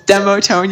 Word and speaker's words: Demotone: It's Demotone. You were saying Demotone the entire time last time, and I was too scared to pronounce it.